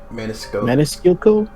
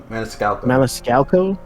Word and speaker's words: Maniscalco: I can't pronounce that last name. Maniscalco. Maniscalco.